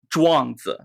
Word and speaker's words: Zhuangzi: You got to add some bass to it. That's the key. Give me that bass again. Zhuangzi.